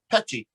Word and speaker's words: Pecci: The English way is Pecci. Pecci.